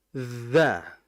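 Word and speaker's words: ذ: Ujung lidah bagian ujung itu diapit oleh gigi ujung gigi seri atas. Oke. Dza. sehingga dibaca auzu kita rasakan ketika ketika nempel antara gigi dengan lidah itu ada getaran.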